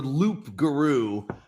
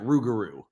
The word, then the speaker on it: loup-garou: It's the Loup-garou, but when Cajun people pronounce it, they pronounce it Rougarou. But it's actually Loup-garou, and it's French.